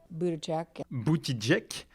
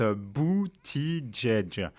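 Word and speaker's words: Buttigieg: semble faire rêver personne boutih jek non non non non on prononce abouti djedj pitt beauty djedj donc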